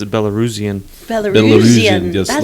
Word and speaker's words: Belarusian: So I say I'm Belarusian, but I guess the proper way to say it is Belarusian.